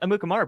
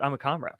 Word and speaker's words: Amukamara: Prince, not Amukamara, but Amukamara. Amukamara. Did I say it right? Amukamara.